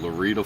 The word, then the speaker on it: Lorida: Um it's actually called Larita, Florida. the and it's spelled just like just like Florida but without the F on it.